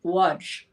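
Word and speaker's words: Łódź: from a town called waj l-o-d-z but they don't pronounce the l and and that was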